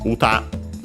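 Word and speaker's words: 歌: word is simply uh uta accent on the last syable so be careful.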